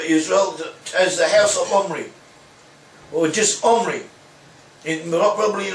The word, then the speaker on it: Omri: Which is so that's how we have Omri could also be pronounced as Gumri, and it was so pronounced by the Assyrians.